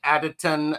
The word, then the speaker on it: Hekatean: Well, Ritchie and I are joined by Kenn, the Hekatean of the Hekatean Path.